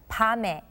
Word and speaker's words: 밤에: When the 받침 미음 is followed by a vowel sound, the 받침 sound becomes silent and carries on to the following vowel sound to be pronounced as the first sound in the next letter.